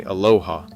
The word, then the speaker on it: Aloha: The Aloha campus, and for those outside Washington County, locals say Aloha, not the Hawaiian greeting, a distinction that matters to people who've lived there, lost 192.